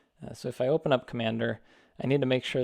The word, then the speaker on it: Cmder: So what I do is I use Commander. It's spelled CMDER.